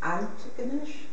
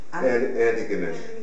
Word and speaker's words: Antigonish: at all, which is Antigonish. Antigonish. Antigonish. Antigonish. Antigonish. Like I tried so much to say that. I've never been able to get the accent right on the first syllable.